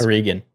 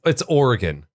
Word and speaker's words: Oregon: I think it's funny just listening to you just butcher the word Oregon like all day. That's Oregon. What's wrong with how I say Oregon? Oregon. It's Oregon.